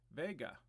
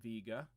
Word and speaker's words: Vega: away this is a close by star called vega also pronounced vega i've heard people say that that's a little odd but i think that might be the more correct pronunciation but when i was a kid it was called vega and so this one